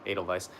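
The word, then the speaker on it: Edelweiss: Yeah, it's like a V. So like Adal Vice.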